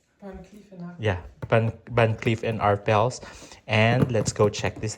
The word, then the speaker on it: Van Cleef & Arpels: Yeah, Van Cleef and Arpels.